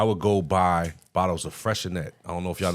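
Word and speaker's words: Freixenet: It's spelled with an X in there somewhere. Freshenex? Freshenet. I know what you're talking It's a about. T at the end. Yeah. Yeah. But it's a So silent X in it there tastes somewhere.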